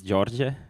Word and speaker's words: Đorđe: Uh uh by the way my name is George. I know it's hard for everybody to pronounce it but yeah some of you may know me by my handle at GitHub.